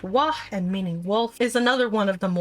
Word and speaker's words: W: The W tribe, pronounced Wa and meaning Wolf, is